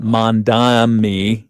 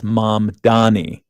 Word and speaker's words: Mamdani: Apparently, it should be pronounced Zoran Mamdani. Mamdani. Yeah, as most commonly mispronounced when people swap the M and the N in his name. So it's not Mamdani, it's Mamdani.